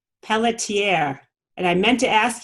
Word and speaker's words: Pelletier: Pelletier. And I meant to ask you, Kenneth, how to pronounce that properly. Is it That's Pelletier? the good French pronunciation. What's that? That's the very good French pronunciation.